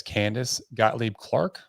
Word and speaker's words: Candice Gottlieb-Clark: have the honor and pleasure of welcoming Miss Candace Gottlieb Clark yeah you guys pronounce that right perfectly boom that's what I'm